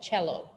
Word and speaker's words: cello: we pronounce it CH it starts with C but we pronounce it CH cello picture a seven Susan